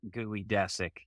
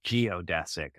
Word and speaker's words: geodesic: right mind would say oh it's not gooey desic is it nope it definitely isn't it's geodesic huh yep well you